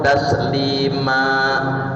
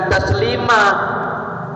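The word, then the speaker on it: تسليما: amanu Shu Alaihi wasallimu taslima bukan taslimah ini terkadang ada huruf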